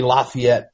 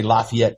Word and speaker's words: Lafayette: They say Lafayette in Louisiana. They say in Mississippi. Yes. That's what I'm saying. It's the only Tennessee is the only place that pronounces it. Lefet that is what it is.